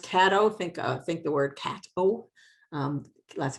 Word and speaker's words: Caddo: Pronounced Caddo, think the word Caddo. Lots of people want to say Caddo, but it's Caddo.